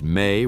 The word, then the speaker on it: me: The me, pronounced may, were the divine decrees of Sumerian civilization.